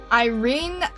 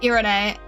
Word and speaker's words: Irene: Yeah, I did, emphasis is on the second syllable? Irene? Like Renaissance?